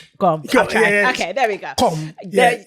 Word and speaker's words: gqom: Gqom.